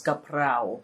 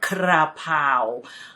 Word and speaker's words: kaprao: Kaprao, of course, the famous kaprao. And it's kaprao, not krapao. Kaprao.